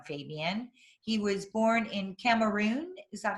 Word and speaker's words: Cameroon: a background on fabian he was born in cameroon is that how you pronounce it yep correct okay uh africa he